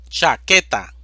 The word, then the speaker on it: chaqueta: vocal va sin tilde chaqueta división silábica cha que ta sílaba tónica que es una palabra grave